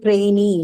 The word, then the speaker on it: trainee: is eat it right all of these suffixes they take the stress on themselves so this has got nothing to do with what goes before it after it if you find these suffixes in the word then the stresses on the suffix itself so example trainee like the